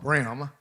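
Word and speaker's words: bream: So just so you know some local flavor here, the yellow brim is called brim. Oh, sorry. That's how we pronounce it.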